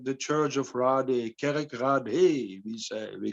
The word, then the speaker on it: Kerkrade: The name of the place is called Kerkrade, and Kerk means church, and Rade is like village or something. But you write it like Rade, so it's like the church of Rade, Kerkrade, we call it.